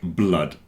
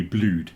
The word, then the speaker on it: blood: that everyone mispronounces like blood and flood rhyme with mud a lot of people think it must be blued cuz it's like food but it's not like food it's like mud so there's a section